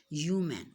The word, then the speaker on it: human: Class, human की original pronunciation है human, उसमें h silent होता है, human beings.